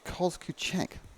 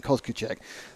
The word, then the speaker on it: Kozkuchek: It's Kozkuchek. Says Glenn, thank you for that. Telling me how to pronounce Alex's name, Kozkuchek.